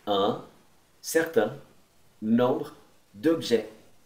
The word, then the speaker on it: objets: Un certain nombre d'objets. Não pronuncie o S no final.